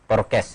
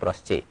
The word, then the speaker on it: Porsche: Jadi sebaik-baik kendaraan sekarang ini ada mobil namanya Porkes ya, atau Porsche, ya, bacanya itu Porsche, Porkes. Itu harganya itu 60 miliar kira-kira.